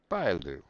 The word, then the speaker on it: Bailu: Bailu. Okay, that's her. That's how you pronounce her name.